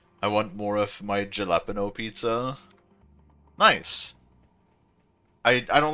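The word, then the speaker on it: jalapeño: Jalapeno sounds like an H. Well, why wouldn't they just use an H then? Clearly it's meant to be pronounced jalapeno.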